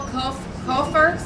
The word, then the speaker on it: Cofer: Cofer, C-O-F-E-R? Yes, you pronounced it correctly.